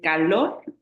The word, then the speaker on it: calor: No es fácil, yo sé, pero la sílaba tónica es lor. Es calor, la que suena más fuerte es lor.